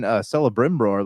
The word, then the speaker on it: Celebrimbor: And even Celebrimbor, like that, I think that's how you pronounce his name. Celebrimbor.